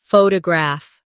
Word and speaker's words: photograph: Now photograph. The stress is on the first syllable. Photograph.